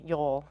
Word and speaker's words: Yoel: Dad used to call me sometimes because of my black hair, and it sort of rhymes with my name, Yoel.